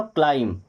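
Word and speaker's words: climb: डम सी एल आई एम यहां पे क्या बी साइलेंट हो जाएगा तो ये क्लीम नहीं होगा क्या क्लाइम क्या होगा क्लाइम क्लीम नहीं होगा क्लाइम क्योंकि यहां पे बी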